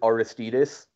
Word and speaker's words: Aristides: The Dutch guys, they pronounce it Aristides, like all short vowels.